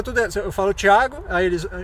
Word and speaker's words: Thiago: Porque geralmente falante de língua inglês não consegue entender o ti.